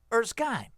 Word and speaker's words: Erskine: I can imagine why you would think that because there's an E at the end. Erskine. Right. But yeah. Right, there's a silent E. Well, it's always a silent E, but if the silent E implies that the I is a long vowel, Erskine.